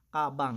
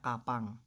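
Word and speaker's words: 가방: The next, we have kabang. Yung example natin kanina, kabang. Hindi siya kapang. Okay? Kasi nasa second syllable yung character na ito.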